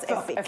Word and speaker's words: Efik: So I'm Efik, I'm Calabar, I'm Efik. That's the way it's pronounced. Oh, Efik. It's Efik. It's not Efik.